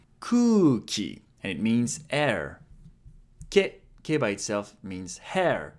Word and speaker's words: け: Ke. It's pronounced like ke in kelp.